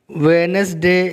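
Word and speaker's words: Wednesday: Monday पीर, ट्यूसडे मंगल, वेनसडे, वेनसडे में डी जो है वो साइलेंट लेटर है।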